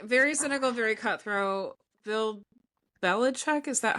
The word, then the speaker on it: Bill Belichick: Bill Belichick, is that how you say his name?